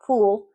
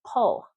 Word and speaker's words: pull: It's not pool. It's not, that's a different word. It's not foon. It's pull, fun, bus.